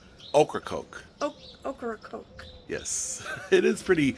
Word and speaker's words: Ocracoke: Ocracoke Island. So how you say it, and this is what I was taught from the locals, the vegetable okra, and then a can of Coke. Ocracoke.